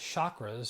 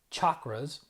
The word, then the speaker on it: chakras: First of all, I was pronouncing them as chakras, so I wasn't saying it right, because in Sanskrit, there's no sh, it's chakras. Number two, that there's not